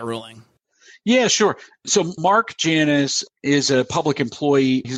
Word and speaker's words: Janus: So why don't we actually just discuss that answer in the context of the real world, in the context of that Janus, I believe it's pronounced Janus, the Janus case that was just ruled on at the Supreme Court.